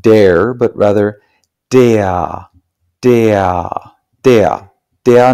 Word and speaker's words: der: perhaps don't know that an R at the end of a syllable in German is not pronounced like an R, it's pronounced something like an A. So this word is not pronounced der, but rather der, der, der Name, der Name.